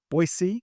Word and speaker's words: Boise: live, where you call home, and that is Boise, Idaho. Did I say that right? Boise? That's exactly the way a Boisean would pronounce.